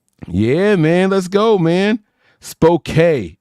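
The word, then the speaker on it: Spokane: man let's go man spok is how they say it spok okay spok my bad I didn't mean to say it wrong British Columbia mom you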